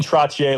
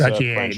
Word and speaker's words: Trottier: Trottier, like Chevrolet Trottier. It's Trottier, gotcha.